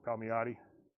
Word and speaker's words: Palmiotti: So if you want Amanda Connor and Jimmy Palmiotti, that's how you say it.